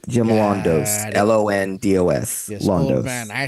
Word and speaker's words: Londos: Okay, Londos. Jim Londos. LONDOS. Yes, Londos. old man. I spell it with all the letters I have in